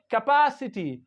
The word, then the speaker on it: capacity: Capacity, capacity, capacity. So PA we pronounce like pa, capacity, capacity, capacity.